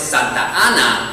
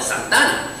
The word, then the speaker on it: Santa Ana: Santa Ana, of course, it's Santa Ana. That's its original name. And if native Spanish speakers were going to combine them, you'd use a process of elision and call it Santana.